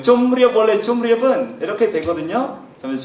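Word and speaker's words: ជម្រាប: 그러나 한국어 법칙은 이렇게 미음하고 리얼 만나면 리얼은 니은으로 돼버리죠. 좀리업이 됩니다. 그래서 중간에 미음을 붙이는 이유는 이렇게 니은이 시키시면 안 됩니다. 원래 발음은 좀 리업입니다.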